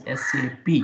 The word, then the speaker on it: SAP: based company in Germany in Germany whatever the sap is there we should not pronounce it this sap as sap why because